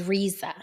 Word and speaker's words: Reza: And then people think that RZA Islam, his name is RZA. It's not, it's Reza. That's how it's pronounced. Reza. Everybody calls him RZA, but it's not RZA, it's Reza.